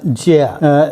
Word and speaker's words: 戒: And this character is pronounced Jia.